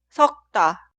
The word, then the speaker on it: 섞다: Se escribe así, pero suena 섞다, 섞다, 섞다.